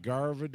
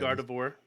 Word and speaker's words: Gardevoir: Gardevoir. Yeah. Gardevoir. It's like God of War, but Gardevoir. Like you got marbles in your mouth, half drunk, say God of War. Gardevoir.